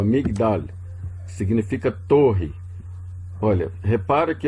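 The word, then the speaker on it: מגדל: Se está fechando, não é pronunciado.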